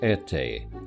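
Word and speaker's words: Erté: The Russian artist Roman de Tirtov called himself Erte after the French pronunciation of his initials Erte.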